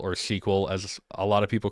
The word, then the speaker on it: SQL: given time so that's kind of how no SQL works there's a lot more to it but